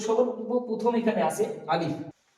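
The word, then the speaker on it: ا: আলিফ আলিফ আলিফ, যেমনটা একটা বাতাস বেরোচ্ছে, যেন দুটো ঠোঁট একসাথে হয়ে না যায়, আলিফ এরকম যেন না হয়, আলিফ হবে।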